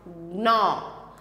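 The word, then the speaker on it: gnaw: Next है animals that ग्नॉ, सो यहाँ पे जी साइलेंट है, जी नहीं बोलना है, तो हमें क्या करना है, नो।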